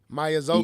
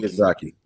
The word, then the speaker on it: Miyazaki: Mazoki. Miyazaki.